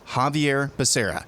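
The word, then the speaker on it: Xavier Becerra: confused Google tells me it's zadir becera he pronounces it Javier masera it's a really weird way to say Javier it is Javier Becerra HHS secretary Javier macera this is a this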